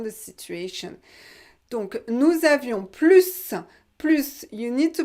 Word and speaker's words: plus: You need to know that. And if you don't know why, you have to watch my video about plus. Plus, if you don't pronounce the S, this will mean no more. Nous avions plus, no more. Nous avions plus, more. So one letter and the contrary.